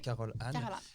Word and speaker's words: Carole Anne: On a de la chance, on est avec Caroline, c'est comme ça qu'on prononce, oui, Caroline.